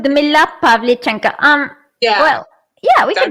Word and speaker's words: Pavlichenko: Ludmila Pavlichenko.